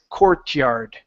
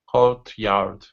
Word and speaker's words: courtyard: particular word it is Courtyard Courtyard okay so yeah just remember take that t and that Y and create a different sound which is C card okay yard good all